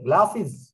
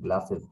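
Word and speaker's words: glasses: দ্য গ্লাসিস R broken, দেখো উচ্চারণটা কিন্তু বক্সিস হবে, আমরা যদিও বলি বক্সেস, অনেকে বলে বক্সিস গ্লাসেস, না গ্লাসিস, বক্সিস গ্লাসিস।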